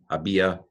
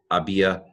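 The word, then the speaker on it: había: zero had been had a BIA a BIA see though and the H is not pronounced I realized as I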